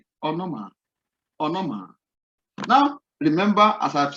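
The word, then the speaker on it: ὄνομα: Now this word, the English equivalent is O-N-O-M-A, onoma, onoma.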